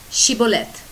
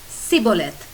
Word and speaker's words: Shibboleth: said no they would tell him to say Shibboleth but he would say Sibyl it because he could not pronounce it correctly then they would grab him